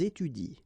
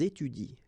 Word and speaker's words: étudient: don't pronounce it, so you will get ils étudient. All right, ils étudient. You don't pronounce that.